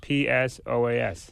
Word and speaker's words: psoas: s o a s now why is there a p there I don't know well the p is silent right yeah now when I was a kid we used to say the p is silent like in swimming so it's psoas muscle so he's got